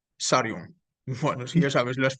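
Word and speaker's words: Tsarion: Michael Sarion, con T-S-A Sarion.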